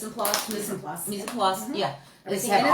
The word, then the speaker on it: mise en place: Mise en place, yeah.